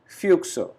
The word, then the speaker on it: Füchse: U is with umlaut, means U with two dots. This letter has a pronunciation of U, very similar to English, and extra e at the last, die Füchse, foxes.